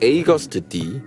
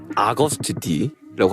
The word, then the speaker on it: Agust D: 번째 이름에서부터 출발한 사실 정확한 발음은 에이거스트 D 혹은 아거스트 D라고 하지만 저는 어거스트 D라고 하겠습니다.